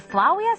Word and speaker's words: Flavia: AP French you know the V is supposed to be pronounced w what in Flavia it's supposed to be pronounced flaw we are of course I know